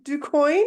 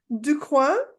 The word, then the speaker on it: DuCoin: show yes for those Franco files it is pronounced ducoin and not Dua um fun fact and I it's possible even